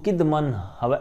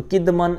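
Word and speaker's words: قِدْمٍ: آپ نے سنا ہوگا، تو کدمن اس کا تلفظ انہوں نے حاشیے میں بیان کیا ہے، حاشیہ نمبر 5 کے اندر، بکسر الکافی وسکون الدال بمعنی الزمان القدیم، زمانہ قدیم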